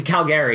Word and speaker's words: Calgary: He went to Calgary. That's how it's pronounced.